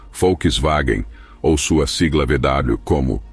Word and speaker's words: Volkswagen: Sedan no entanto a dificuldade em pronunciar a palavra alemã Volkswagen como folkswagen ou sua sigla VW